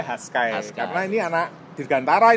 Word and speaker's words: Hashsky: Haskai, oh bacanya Haskai.